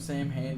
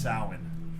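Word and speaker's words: Samhain: it's just flies what does the celebration of Sam Hayne signify the death of the earth and the rebirth exactly this is a little fun fact party kids out there it's actually pronounced salmon the original Celtic pronunciation wow that's gay I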